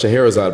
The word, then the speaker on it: Scheherazade: And we gave him the paper, and we were like, "Oh, just so you know, it's pronounced Scheherazade."